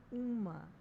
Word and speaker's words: UMA: It's pronounced UMA and stands for Universal Market Access.